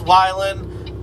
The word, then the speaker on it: Wihlen: everybody says it differently it's pronounced violin but uh it's spelled willin w-i-h-l-e-n just yeah my name